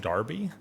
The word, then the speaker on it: Derby: berkshire's pronounced barkshire also derby is pronounced darby so other than that